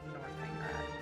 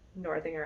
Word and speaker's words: Northanger: Abbey, but I was looking it up online and I'm pretty sure you pronounce it Northanger, so my bad.